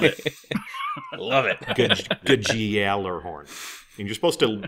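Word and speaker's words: Gjallarhorn: you're referring to is gudge galler horn nailed it i love it good good gal or horn and you're supposed to you're supposed to belabor the y sound too so let's say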